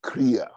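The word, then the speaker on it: χρεία: The Greek word is kria, and it's pronounced kria.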